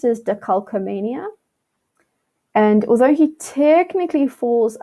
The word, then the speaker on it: decalcomania: So the way that this is pronounced is decalcomania.